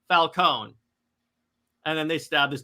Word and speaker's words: Falcone: Washington and then Carmine Falcone so yes it's pronounced Falone not Falcone Falone and then they stab this dude's eyes out